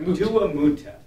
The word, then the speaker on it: Duamutef: I always forget how to pronounce it. Yep, Duamutef.